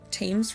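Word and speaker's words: Thames: That mansion is across the Tames the Tames River, I think is how you say that.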